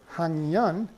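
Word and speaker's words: 학년: That's also a very general rule of Korean phonology, that the K is pronounced eng in front of a nasal sound.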